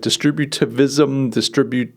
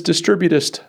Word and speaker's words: distributist: And I struggled with the word distributist. I was like distributivism, I was like throwing a V in there. But it's distributist thinking.